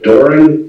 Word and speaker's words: Doran: Okay, Miss Doran, it's pronounced Doran, D-O-R-A-N?